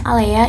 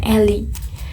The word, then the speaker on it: Alea: Aku bacanya Alea ya, karena aku baca versi WP-nya dan aku manggilnya atau membacanya itu Alea bukan Eli.